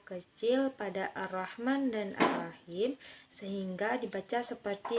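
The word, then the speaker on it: الرحمن: Kesalahan yang sering terjadi yaitu ketidaksempurnaan pengucapan pada Ar-Rahman dan Ar-Rahim, yaitu H kecil dibaca seperti H besar, dan itu keliru.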